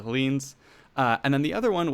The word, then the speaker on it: Hellenes: In the script, I had pronounced it Hellenes, which people were questioning if that was even a real word, and it's not, so we'll retroactively correct that to Hellenes.